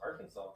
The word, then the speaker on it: Arkansas: There's no saw in here, that's just. It's Arkansas. Ay, ay, ay.